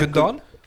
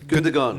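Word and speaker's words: Gündoğan: How do you pronounce his name? Gundogan? Gundogan. Gundogan.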